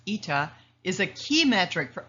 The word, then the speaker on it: eta: Demand elasticity, denoted by this funny looking N pronounced ETA, is a key metric for understanding consumer sensitivity to price changes.